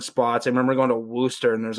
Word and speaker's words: Worcester: It's like Worcester or like Worcester. And that everyone from Mase is like, no, it's Worcester. Because we can't say our R's.